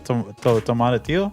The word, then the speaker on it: tomatillo: so the what I always pronounce it wrong. It's the tomatillo Tomatillo?